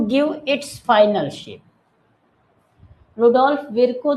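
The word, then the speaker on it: Virchow: Rudolf विरकाउ, ठीक है, इनके रुडोल्फ विरको या विरकाउ, आप जो भी इसको बोलना चाहें बोल सकते हैं, प्रोनाउंसिएशन में रुडोल्फ विरको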